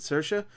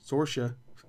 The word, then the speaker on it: Saoirse: Saoirse, I think that's how you pronounce it, Saoirse.